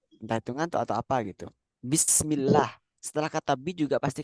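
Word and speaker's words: بسم الله: hitungan atau apa gitu bismillah setelah kata bi juga pasti kasrah makanya Bismi bukan bismu bismullah salah bismillah bismillah ahah sama kayak setelah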